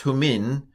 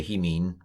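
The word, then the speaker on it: ὑμῖν: Charis humin, it'd be hemin, probably in Jesus' day, hemin. Charis humin kai erene, it would be irini, probably in Jesus' day.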